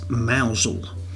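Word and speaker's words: Mousehole: many years ago that the proper pronunciation is mausole not mouse hole as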